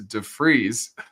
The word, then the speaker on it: Devries: And I pronounced it wrong. It's DeFreeze.